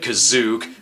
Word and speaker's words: Kashyyyk: The special pronounces it Kazook, because if the plot is meaningless, then so are letters.